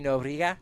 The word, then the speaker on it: Nobriga: Nobriga? Yes. It's a very soft B.